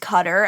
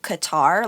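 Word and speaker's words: Qatar: cutter as opposed to guitar like they've been corrected and say like oh no it's cutter because it is correct in that you're now putting the emphasis on the correct syllable but but not the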